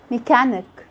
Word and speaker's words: mechanic: But sometimes the H is silent. We just ignore it in the CH and we only pronounce the sound of the C, K. Like when you say school, chemical, chemistry, mechanic.